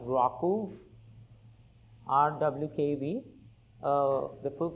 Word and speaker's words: RWKV: It's the first lecture and uh I'm going to bring your attention to this very interesting model called you know it's pronounced rau rw kv uh the full form being receptance